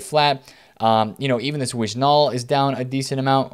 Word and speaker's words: Wijnaldum: You know, even this Wijnaldum is down a decent amount, or Wijnaldum. I say his name terribly every time. You don't say Wijnaldum, right?